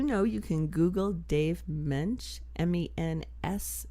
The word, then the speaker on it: Mensch: And do you know you can Google Dave Mensch, M-E-N-S-C-H. The S is silent.